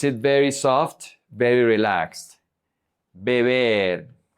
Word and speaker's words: beber: In here, it's going to be very important to pronounce the correct vowels. E. Beber. Beber. Because if you don't do it, then you're going to pronounce vivir. Vivir, just like beber. The only difference between these 2 words are the vowels. This is beber. This is vivir, ee.